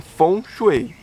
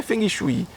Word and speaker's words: Feng Shui: Se escreve fengui, mas a pronúncia mandaria é fon chuei. E a tradução para português não é fengishui, é vento e água.